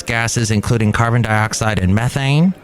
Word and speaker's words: methane: including carbon dioxide and methane or as the British say methane released into the Earth's